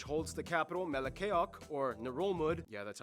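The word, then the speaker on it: Ngerulmud: If you include smaller rocks and islets, the largest one being Babeldaw Island, which holds the capital Melekeok, or Nurulmud, yeah, that's how you pronounce it, which is the least populated capital in the world with only about 400 people.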